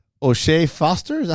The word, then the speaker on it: O'Shaquie: O'Shea Foster? Is that how you say his name? O'Shaquie Foster? O'Shaquie.